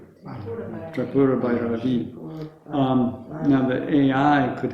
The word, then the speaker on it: Tripura: Well, is it the same again with trip, not try? Tripura.